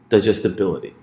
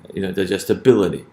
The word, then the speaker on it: digestibility: So we say, what syllables come before the stress syllable bil? Digestibility.